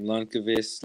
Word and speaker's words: Lundqvist: I personally like pronouncing his last name Lundqvist like that. I think that's the correct way to say it.